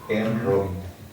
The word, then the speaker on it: Jean Robin: El autor es un francés, se escribe Jean Robin, ¿no? Jean Robin. Como Robin el de Batman, Robin.